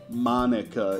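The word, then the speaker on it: Monika: Also, note, Dennis was like, dude, you're driving me insane mispronouncing Monica. Monica. And you know what threw me off is the K. So I guess I should go ahead and correct that.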